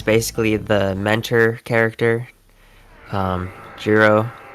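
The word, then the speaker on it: Giro: Um, Jurro, he uh, you know, rhymes with Zero.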